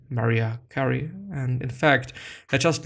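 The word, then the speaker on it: Mariah Carey: that he had never heard a song from maria carrion maria carrie and in fact i just learned how to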